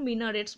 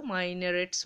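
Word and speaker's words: minarets: tops of couple of মাইনারেটস ঠিক আছে এইটার উচ্চারণ মিনারেটস বলতে পারো মাইনারেটস বলতে পারো মিনারেট হয় ক্যান বি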